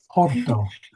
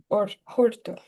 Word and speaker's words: horto: Make sure make sure you pronounce the H. Yes. Orto. Horto.